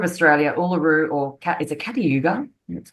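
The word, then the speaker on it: Kata Tjuta: So the Red Centre equaling the Red Sea, the Red Centre of Australia, Uluru, or is it Catayuga? That's how you pronounce it.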